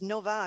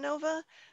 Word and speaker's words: no va: Oh, Chevy Nova, it did poorly in Latin America because Nova means no go in Spanish, completely busted. They're different. The words Nova and Nova are pronounced differently.